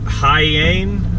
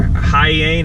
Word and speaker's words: Hiyane: heading to I believe it's pronounced high aim or high aim it's a chai y ane it's a pretty awesome